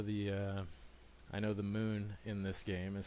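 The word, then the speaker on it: Mun: uh I know the moon in this game is spelled muu n I still pronounce it with the long u Moon although I know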